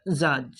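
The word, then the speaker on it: judge: bridge মানে কি দল তার পিছনে দিব পারে জাজ জাজ এর উচ্চারণ কি হব জাজ জাজ মানে বিচারক চাইছে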